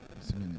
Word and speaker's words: Esimeni: Am I pronouncing? Yeah, Asimeni. Esimeni, that's right.